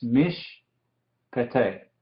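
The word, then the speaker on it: מִשְׁפְּטֵי: Miren aquí, esta palabra, mishpate, tenemos una vocal corta aquí, la hirek, al lado del Shewa. Entonces, este es silencioso. Encima de eso, como hay dos Shewas consecutivos, el primero es silencioso y este segundo se dice. Entonces es mishpete.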